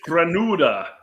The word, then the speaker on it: Granada: we'll get into that it is grenada we know how to pronounce it granuda you gotta rule the r's too all week i've been